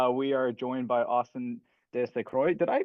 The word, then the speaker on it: De St. Croix: Today we are joined by Austin De Saint Croix. Did I pronounce that right? Uh it's De Saint Croix if we're going to be French but it's I'm I'm from West Coast.